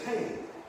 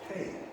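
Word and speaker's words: הא: It also means the 5th number in the Hebrew numeric number is Hey. It looks like the word He, but you pronounce it Hey.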